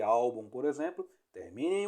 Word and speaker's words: álbum: terminações de certas letras e força na penúltima sílaba Ou seja a segunda de trás para a frente a exemplo de álbum por exemplo termin em